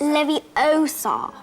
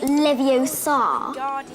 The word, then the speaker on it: Leviosa: internet Wing Guardian Leviosa stop stop stop you're saying it wrong it's Levi Oar not leviar following people doesn't work